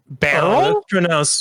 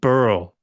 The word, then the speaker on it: Beryl: So What about Beryl? Beryl. barrel? That's pronounced burl.